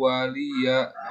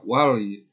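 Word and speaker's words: وَلِيَ دِينِ: ya terakhir 6 langsung Nah di sini bacanya suka banyak yang salah Hai lakum dinukum waliyadin Awalia suka denger ke banyak yang baca Wali Wali Wali Ya di sini seperti adaptasi Atau lainnya mati jangan tapi waliya waliyadin ini bisa dua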